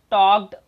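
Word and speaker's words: talk: अब यहाँ पर देखिए जो वॉक है और जो टॉक है, यहाँ पे जो ये एल है, ये एल हमारा साइलेंट होता है, कई लोग इसे वॉल्क पढ़ते हैं, उसी को टॉल्क पढ़ते हैं।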